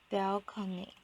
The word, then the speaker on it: balcony: were not bad enough balcony makes me sick the word is borrowed in from Italian and it was pronounce balony this complaint now strike